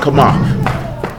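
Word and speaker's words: חמה: Yeah, CHEMAH, but it's pronounced kamah.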